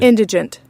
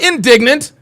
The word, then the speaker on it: indigent: Indigent. Not indignant. Not indigenous. It's indigent. Indigent.